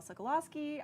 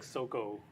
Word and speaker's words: Sokolowski: i am joined by i think that's the first time i've heard it pronounced my actual last name i was always like soco now you know now everyone knows it's good to know